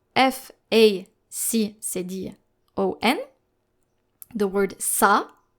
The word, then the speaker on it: ça: No matter the vowel following the letter C with a cédille, you will need to pronounce it just like the letter S.